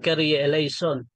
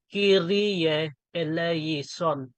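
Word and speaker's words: Kyrie eleison: iba din ah yung yung carry elon mali din 'yun 'yung pagka pagka-pronounce mo. Kasi ang latin kasi iisa-isahin mo yan. For example, Kiri Elison.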